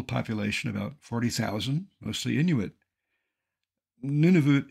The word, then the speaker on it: Nunavut: about 40,000 mostly Inuit Nunavut is frequently mispronounced none of it with that in mind